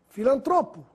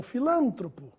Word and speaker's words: filantropo: Filantropo e não filântropo.